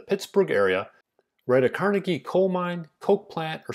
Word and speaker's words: Carnegie: And yes, I went with Carnegie instead of Carnegie, as the Scottish like to pronounce it, because that's what I'm used to saying.